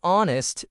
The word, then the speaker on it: honest: In honest, the H is silent.